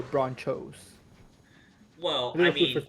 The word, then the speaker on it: Bronchos: have an interesting point why do you say broncos like broncos when it's spelled like nachos so should we say nacos or bronchos well i mean it's